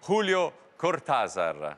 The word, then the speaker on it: Julio Cortázar: mi riferisco a bestiario di julio cortázar abbiamo appurato che questa è la pronuncia giusta e l'abbiamo dopo lunghe discussioni con piero dorfles siamo giunti a questa conclusione bentrovato a 0 buonasera